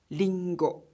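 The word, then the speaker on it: りんご: in the Japanese language its pronunciation however is like L sound for example an apple is Ringo and is pronounced as lingo the number six is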